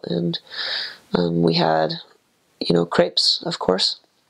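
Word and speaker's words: crêpe: And we had, you know, crepes, of course. People say crepe, but it's a crepe. So that's just a little pronunciation thing going on there.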